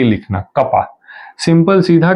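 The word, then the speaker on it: kappa: नहीं लिखते वैसे ही कपा है ये तो हम इसको प्रोनाउंस क्या करेंगे यह कौन है अपना इट इज आवर कपा के ए डबल प इसको कपा से रिप्रेजेंट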